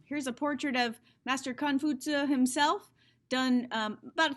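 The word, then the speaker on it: Kong Fuzi: okay so um again his name is khan futsu we call him confucius just because westerners couldn't really pronounce this in the correct way he's a real person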